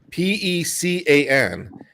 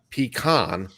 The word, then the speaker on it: pecan: they'll get a fight p-e-c-a-n is pronounced pecan not pecan no pecan pecan sandwiches